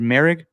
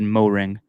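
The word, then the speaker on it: Moehrig: Is it Merrick? You are saying it correctly, sir. Cool. Because for the longest time when I was cutting up B-roll from him, I always said Mo-ring.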